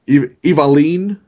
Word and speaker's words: Evelynn: Evaline is how you're supposed to say that one.